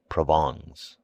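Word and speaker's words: Provence: and his wife's relatives from provance pronounced provon he imported officials by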